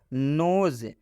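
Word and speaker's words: nose: तो इस ओ का उच्चारण ओ की मात्रा से हो जाएगा। नोज, नोज का मतलब होता है नाक।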